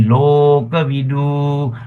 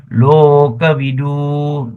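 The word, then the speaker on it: lokavidū: The party context should be local. Vu local voo. See we we we don't say local vo. No, we say local v we do. Long o must be very clear.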